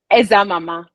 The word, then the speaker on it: Ezeamama: Ezeamama, Ezeamama, did I pronounce it It's well? it's Ezeamama.